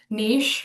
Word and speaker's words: niche: Um some of these are niche or niche, however you want to pronounce that.